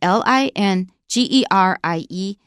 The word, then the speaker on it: lingerie: laundry and it's spelled l i n g e r i e l i n g e r i e in English we pronounce it lingerie it's pretty underwear for